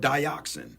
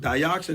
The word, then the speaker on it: dioxin: It's called dioxin. Mm-hmm. Dioxin is 100 times more poisonous. It's spelled DIOXIN, dioxin.